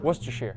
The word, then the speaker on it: Worcester: Worsters sire sauce. You were close. Worcester.